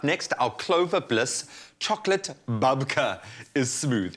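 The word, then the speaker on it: babka: a bake or a bub babe it's a bubka what is a bubbka am i even saying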